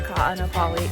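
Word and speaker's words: Kāʻanapali: So where we are in like the Ka'anapali, Ka'anapali. yeah, I think that's how you say it.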